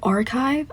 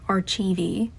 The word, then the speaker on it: archive: Like archive, I used to say it like archivey.